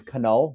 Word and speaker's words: Knull: So the K in my last name is Knull, not Null.